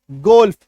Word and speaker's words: golf: WOLF, वुल्फ, लॉ का उच्चारण होगा। SELF, self. GOLF, गोल्फ।